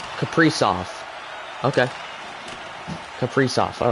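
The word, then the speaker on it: Kaprizov: a see my phonetics what is it capris of okay Capri off okay Capri off all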